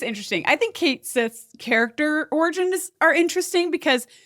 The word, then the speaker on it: Cait Sith: So, they decided to go phonetically, right, with the Kate Sith. Again, I think it was the right move to say it like it's spelled because if they were going